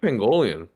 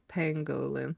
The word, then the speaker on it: pangolin: I said pangolian. Oh my There's god, no it's a second O. pangolin. Yeah, I think it's just pangolins.